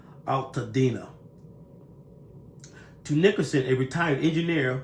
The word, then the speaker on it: Altadena: I believe it's pronounced Altadena neighborhood.